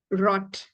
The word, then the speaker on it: rot: for this and um relax the tongue more of a rolling sound than the English R okay you need to